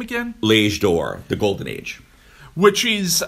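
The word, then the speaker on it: L'Âge d'Or: L'Age d'Or, the Golden Age.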